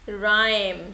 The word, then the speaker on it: rhyme: Rhyme. So here H is silent.